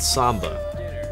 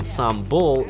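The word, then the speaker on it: sambal: that goes with the meals and I was mispronouncing it for 3 months before I was corrected I was calling it Samba I was told in a light-hearted manner that Samba is a Latin American dance and sambul is the Indonesian sauce that I was eating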